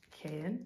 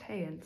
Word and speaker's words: Haerin: I just found out the other day from 8 Rally's video that it's not pronounced Haerin, it's pronounced Haerin.